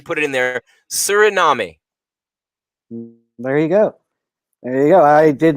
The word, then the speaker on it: Suriname: They phonetically put it in there. Suriname.